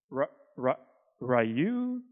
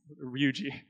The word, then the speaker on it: Ryuji: teachers they freak out they're like ra ra rayu and I'm like oh it's me ryuji and I've had these